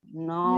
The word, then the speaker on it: know: के साइलेंट कैसे रहेगा, देखो कोई वर्ड बताइए। हाँ, नो, नाइफ मैम, नो।